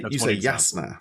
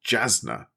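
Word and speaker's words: Jasnah: So you say Yasna, for example, because that's the way that the audiobook. I've listened to The Way of Kings audiobook, and that's the way that it's pronounced by Kate Redding. But I always would say in my head that's Jasna, rather than Yasna.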